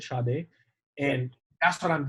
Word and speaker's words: Sade: yeah, And I love I think it's Sade. I think that's how they say it, Sade.